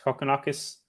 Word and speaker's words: Kokkinakis: as you like it I say it's coconakis I did spell that